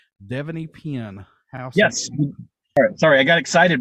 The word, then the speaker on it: Devanny Pinn: And I hope I say her name correctly, Devanny Pinn.